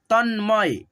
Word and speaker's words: तन्मय: तन, तन्मय, तन्मय, न और म को साथ में पढ़िएगा, तन्मय, तन्मय।